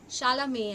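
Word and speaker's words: Chalamet: can you see Timotei Shalame Shalame actually that is how it is pronounced pronounced Timotei shalom this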